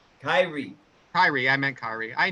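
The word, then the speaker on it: Kairi: He's got Asuka, Kari Sane. Did I say that right? Kyrie.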